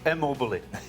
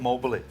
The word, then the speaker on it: Immobile: Hey, it's Immobile. Eh? It's Immobile, not Mobile.